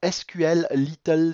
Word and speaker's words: SQLite: twilight qui tourne ou sql little si vous voulez ça dépend de la prononciation moi je dis si cole light est en fait le